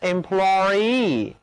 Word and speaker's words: employee: 因为我们要特别去强调 double e 这个后缀的分量，所以啊，就要把一个长元音 e 加在 employee 后面，读作 employee，重音是非常明显的。